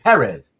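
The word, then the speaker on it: Pérez: And just like the E on the the the accent on the second E of Perez, uh, on the first E of Perez, right?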